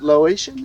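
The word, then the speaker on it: Laotian: you mentioned your wife uh phone she's she's Lo Asian is that how you say it that's right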